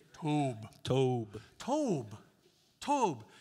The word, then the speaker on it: Tob: Say Tob.